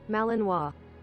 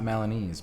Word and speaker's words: Malinois: Malinois. Malinois. Shit. Okay, my bad. It's not Malinese.